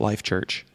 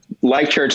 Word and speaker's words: Life.Church: life.church or is it life church life church the god is silent clark the dot is silent oh yeah you're the